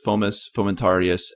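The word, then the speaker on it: Fomes fomentarius: mention what fungi we're talking about it's called formus fomentarius i know we will pronounce this extremely differently no that's exactly how we pronounce it fomus fomentarius and that's the fungus that you end up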